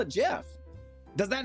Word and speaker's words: GIF: pronunciation on gif I understand it's a graphics thing so it's supposed to be spelled like or it's pronounced like Graphics or whatever but the the creator of gifs said it's Jeff oh that's the one